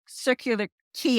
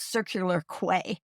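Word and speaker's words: Circular Quay: every time you say every time you say circular key I go I was mispronouncing it I was constantly calling it circular qu the whole time so I'm like that's how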